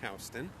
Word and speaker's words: Houston: which is spelled like Houston, but it pronounced Houston.